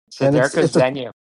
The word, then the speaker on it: Seiryoku Zen'yo: How's it pronounced? It's Seiryoku Zen'yo.